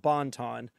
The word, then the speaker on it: Bonton: place in Atlanta called Bonton spelled like it sounds b o n t o n y but it's a Cajun it's Cajun food so it's Bon like French thing and we were playing